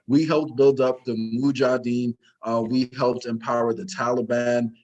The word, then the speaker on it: Mujahideen: we helped build up the Mujahideen. I'm pronouncing that wrong, but You got we it helped right. build. Oh, I did get it right. Okay, perfect. So we helped build up the Mujahideen.